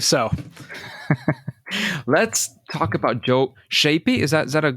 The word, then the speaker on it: Schaeppi: I I believe so let's talk about Joe shapy is that is that a decent way to pronounce it that works uh she yeah sheppy sheppy all right I'll try that he's a